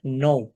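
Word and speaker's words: know: যেমন নো সেখানে আমরা লিখছি কে এন ও ডবলিউ নো অথবা নলেজও যদি আমরা লিখি সেখানে আমরা কিন্তু কে দিয়ে লিখছি কিন্তু আমরা উচ্চারণ করছি এন দিয়ে অর্থাৎ শব্দটা শুরু করছি এন দিয়ে কে সাইলেন্ট থাকছে আরবি ভাষাতেও এরকম একটি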